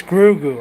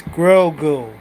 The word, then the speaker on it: Grogu: It's Grogu. I know. It's Grogu. I know that, and I'm sorry I cannot pronounce his name right.